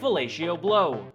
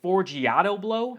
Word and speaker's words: Forgiato Blow: the MAGA Music, featuring Fellatio Blow. Wait, what do you mean I've been saying his name wrong? You're telling me his name is not Fellatio Blow, it's Forgiato Blow?